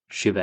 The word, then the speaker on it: Shiva: Uh, yeah, I'm actually South Asian myself, so I should pronounce them as Shiva and Vishnu and Brahma.